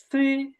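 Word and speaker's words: 七: 7 হবে সি, সি। আমরা যে বাংলায় এই যে বলি যে অনেকে যে কোনো একটা খারাপ কিছু বলে বলি না ছি ছি, তো ওইরকম সি, সি।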